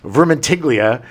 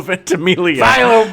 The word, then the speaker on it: Ventimiglia: chewing the scenery, and then you got Milo Vermentiglia in it. Is that how you say his name? No. How do you say his name? Milo Ventimiglia.